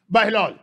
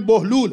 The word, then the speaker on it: बहलूल: बहलोल, मुझे पता है कि यह असली इसका प्रोनाउंसिएशन बहलूल है, लेकिन अब क्योंकि उर्दू में बहलोल राइज है तो बहलोल।